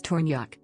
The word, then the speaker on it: Tornjak: the tornyak pronunciation is tornyak official original name also known as bosnian and